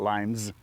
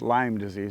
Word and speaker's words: Lyme disease: you did correct me, the S is silent. It's not Lyme's, it's Lyme disease.